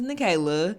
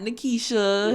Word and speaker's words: Nachela: Like, I can understand you pronouncing it wrong, but, like, my name is Nachela. It's not Nakisha.